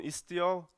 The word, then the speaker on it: Istio: And this time it's pronounced correctly, because everyone can say Istio, I guess, correctly.